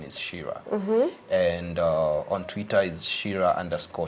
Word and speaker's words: Chira: Shir c h i r e but the pronunciation is Shira and on Twitter is Shore Shira all right